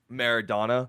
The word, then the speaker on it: Maradona: a million worth yeah they say it's it's pronounced donna by the way maradona maradona gotcha maradona maradona